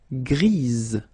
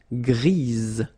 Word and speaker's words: grise: Okay, Gris, don't pronounce the S, but then for the feminine form, grise. Remember? Grise. Alright? So when you add this E, basically it gives you the pronunciation or the possibility to pronounce the previous letter here. It's Z. Grise.